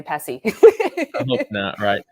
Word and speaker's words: PESI: company name wrong but literally we always just say pessi but you know i